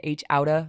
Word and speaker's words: H Outta: It is H out of Compton, H Outta, like gangsters. So you don't say it like a white person, like H out of Compton. It is H Outta.